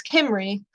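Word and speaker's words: Cymru: call it Cambria the the Celtic peoples it's kimry but to the Romans it's Cambria so this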